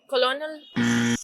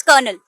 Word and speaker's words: colonel: COLONEL। कॉलोनल। इट्स कर्नल।